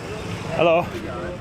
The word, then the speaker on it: halo: You just say hello like h a l o.